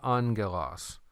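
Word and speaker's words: ἄγγελος: When you have these two gammas right there together, it's not GG, but it's pronounced NG. So that's why you heard me say angelos.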